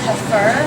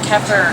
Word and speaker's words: kefir: It's pronounced kefir. Kefir. But mostly people in America call it kefir or kefir.